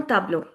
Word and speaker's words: tableau: EAU independently is pronounced as O.